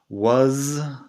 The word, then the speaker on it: was: Una cosa antes de seguir, was, la pronunciación was, se hace con la z que vibra al final.